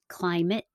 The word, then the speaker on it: climate: and then there's some words that are spelled ate and they sound like it no matter what climate certificate chocolate senate for